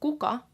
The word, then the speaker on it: kuka: the coca mercy school so cuca with 1k is who and Bucca with two K's is flower now the difference between